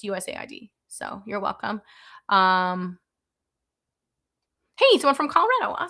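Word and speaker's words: USAID: First off, I know it's pronounced USA ID.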